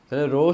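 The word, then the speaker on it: rho: একটু এরকম বাকা হবে রো সমান এটা কি রো রো সমান এমবাভি ঘনত্ব রো সমান কি রোর এভাবে উচ্চারণ রো ঘনত্ব রো সমান এমবাবি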